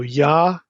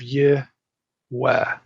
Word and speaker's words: Yahweh: And it's always with an A vowel, Yah, always. So Yahweh instead of Yeh-weh or Yeh-yeah.